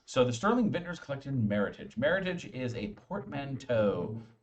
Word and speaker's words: Meritage: the sterling vendors collected meritage meritage is a portmanteau it's a fun word to say a portmanteau being the combination of the word merit and heritage as in meritage the reason that this